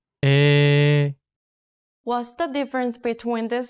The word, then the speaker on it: 에: A plus E makes E. Listen closely to this pronunciation. 에, Here's an important word that uses this vowel.